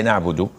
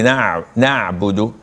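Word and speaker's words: نعبد: No, this is not accepted, because you can say na'budu. Maybe you cannot say it properly, na'budu.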